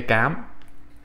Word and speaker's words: Cám: word, first word, okay, Cám. So let me break down what this is. Vietnamese, like French, has what's known as a hard C sound.